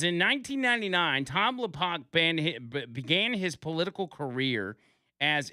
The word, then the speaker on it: Lopach: In 1999, I think it's probably Tom Lopack. That is how you pronounce his name, l o p a c h. It says, "In 1999, Tom Lopack began his political career as executive director of